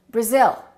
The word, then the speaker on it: Brazil: What do we say? Brazil. I am from Brazil. No, this is no longer a. It's uh Brazil. Brazil.